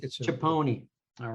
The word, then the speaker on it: Chiappone: Chiappone, is that close? It's close. How do you say it? I just say Chiappone, make it simple. Chiappone.